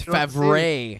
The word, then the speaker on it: Favre: Duke, you gotta say it properly. It's Favre. You gotta put a little oomph on the E. Yeah. Accent aigu.